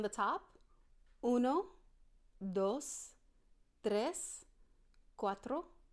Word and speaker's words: cuatro: gonna want to say cuatro kind of like the Audi Quattro but if you can try to learn how to roll your R's because that makes all the difference in the world to say 5 you're